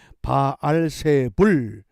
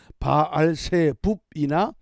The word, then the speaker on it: 바알세불: 히브리식으로 하면 바알세붓지만은 신약에서 헬라식으로 하면 바알세불 이렇게 발음합니다. 그러므로 바알세붓이나 바알세불은 같은 의미를 갖습니다.